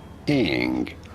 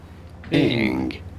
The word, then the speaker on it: Ng: In English, it is usually pronounced as Ing. Ing.